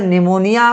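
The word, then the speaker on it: pneumonia: पी एओ अब कहेंगे सर निमोनिया बोल रहे है निमोनिया में पी बेटा साइलेंट होता है इतना अंग्रेजी तो आता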